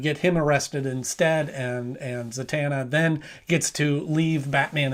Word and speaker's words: Zatanna: I keep wanting to say Zatanna or Zantana or Zananana. And maybe it's pronounced differently in different iterations. I'm not sure. But in this one, it is Zatanna.